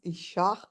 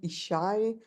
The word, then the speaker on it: Ishach: I was astonished to learn that my family name, which was my grandmother's family name, was actually pronounced Ishach and not Ishai.